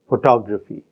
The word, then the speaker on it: photography: your photo photograph Photography in the first word the stress is on the first syllable it is on the first and third syllable in the next word and it is on the second syllable in the third word photography so we have the